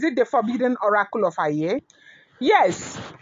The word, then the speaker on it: Aaye: the forbidden oracle of ay? Yes. The forbidden oracle of a Okay. And that ay is spelled a a ye.